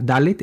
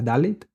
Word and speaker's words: Dalet: Y la palabra, la otra consonante que tengo aquí subrayada al final, la Dalet, se pronuncia como una D, la Dalet.